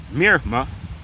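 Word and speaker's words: מִרְמָה: The word is Mirma. And I'll let you hear a pronunciation.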